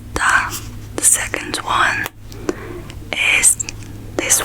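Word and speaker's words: 大: And the pronunciation of this character is da. Da. It's really simple. It's just D-A.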